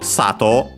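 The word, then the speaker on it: 佐藤: then Tanaka sensei while for Sato which is accented on sa on the first syllable then it's simply sensei so first on the sides high everything else is low.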